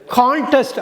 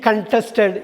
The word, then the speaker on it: contest: அதாவது CONTESTயை ரெண்டு விதமாக உச்சரிக்கலாம். கண்டெஸ்ட்னா ஒரு வினைச்சொல், செயல்வார்த்தை, போட்டியிடுறது. கான்டெஸ்ட் அப்படிங்கிறப்ப அது பெயர் சொல்லாமல் மாறுது, போட்டின்னு வந்துடுது. இப்போ ஒன்று சொல்லலாம், ஹீ கண்டெஸ்டட் இன் த கான்டெஸ்ட், அவன் போட்டியில் கலந்து கொண்டான், அதாவது அவன் போட்டியில் போட்டியிட்டான் அப்படிங்கிறது தான்.